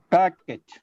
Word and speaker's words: packet: Packet. Packet. It's not packet. It's not packet. It is okay. Packet. The sound is pa is stressed. That's why the next syllable becomes big.